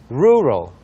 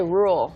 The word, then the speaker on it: rural: focus rural rural so a lot of people say rule there rule you gotta be a machining